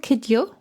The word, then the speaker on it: Kidjo: I was listening to the wonderful Angélique Kidjo being interviewed. Yes. Is that what she's called? Kidjo? Is that how you pronounce it?